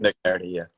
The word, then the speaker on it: McNerney: McNerney? McNerney, yeah.